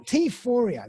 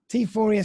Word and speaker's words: Teaphoria: founder of tier four t fourier that's how i pronounce it yeah euphoria yeah so for everybody